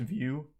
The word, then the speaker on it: Vue: was a good tweet Bob it's pronounced view uh I thought it was like an acronym or something yeah I don't know